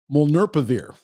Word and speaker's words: Molnupiravir: Molnupiravir, that's how you pronounce it, is not a vaccine.